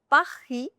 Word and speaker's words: Paris: Last letter S is silent. vous It's not vous. It's vous. vous This is not lays, no. This is lay. The final letter S is silent, so it becomes pa-hee.